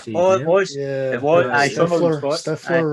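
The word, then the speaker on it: Seann William Scott: I say Sean William Scott. I don't know if that is how you say his name. It was. Yeah, it was. Sean William Scott.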